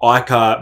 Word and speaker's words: AICAR: is break down how icar may potentially improve aerobic performance energy levels and vitality but first of all let's break down what is icar which is spelled a-i-c-a-r well i-car is short